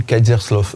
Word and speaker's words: Kerzerslauf: vous la traduisez pas ça se dit kaerslov j'essaie de la prononcer comme il faut mais j'y arrive pas